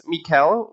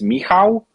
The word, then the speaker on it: Michał: I think it's Mikkel, would that be, or did I mispronounce it again? Yeah, it's good. It's good. It's so in Polish, it's Michał. So whenever version like Mike, Michael is fine.